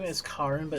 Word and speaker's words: Karen: is Karin, but it's spelled Karen.